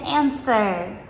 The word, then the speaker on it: answer: So for example, like answer, A-N-S-W-E-R, compared with right, W-R-I-T-E. So in right, the W comes in the beginning, and the word answer, it comes in the middle, and so on.